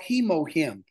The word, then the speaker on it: Hemohim: It is called Hemohim, and it is spelled just as it sounds. H-E-Mo, M-O-Him, H-I-M.